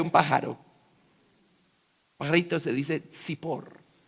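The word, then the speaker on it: צִפּוֹר: Pajarito se dice Zipor. Zippor.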